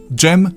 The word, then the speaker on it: Dżem: For that kind of sound, you have the combination of D and Rz. Dżem, dżuma, or for double the fun, dżdżownica.